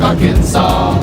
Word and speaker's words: Arkansas: The S is silent in Des Moines, Iowa, and also in Little Rock, Arkansas.